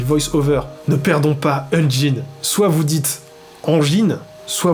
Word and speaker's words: engine: les logiciels de son se prononce engine pour une raison mystérieuse dans les milieux du visuel français il se répand beaucoup sous la prononciation unine les gars je sais